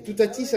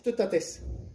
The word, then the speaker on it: Teutates: Et Toutatis, en fait, c'est pas prononcé correctement. Normalement, c'est Teutates.